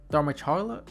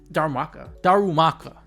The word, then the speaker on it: Darumaka: I can't really pronounce Darmacharla. That's wrong. We saw Lucario, but that's my biggest issue. I have a issue pronouncing a lot of these Pokemon names. Darumaka.